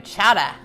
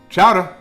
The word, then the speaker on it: chowder: We're making a chowda. What did you call it? Say it loud enough so everyone can hear. Come on, say it. Chowder.